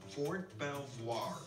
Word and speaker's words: Fort Belvoir: Fort Belvoir for 12 soir I missed the pronunciation Fort Belvoir we're here to look at a history of